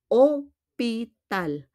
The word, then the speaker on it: hôpital: And then we have opital. Opital. Again, we don't pronounce the H.